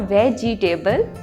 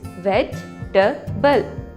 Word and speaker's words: vegetable: E is silent here. It's not vegetable. It's vegetable.